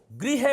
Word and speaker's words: गृह: मानते भी नहीं है अरे मैं ग्रह जा रहा हूं नहीं गृह है भाई र और ऋ का उच्चारण अलग-अलग है ये आपको ध्यान